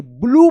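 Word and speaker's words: blue: ब्लू पढ़ेंगे। ब्लू यहां पे यू का उच्चारण हो रहा है। और ई जो है ना साइलेंट है।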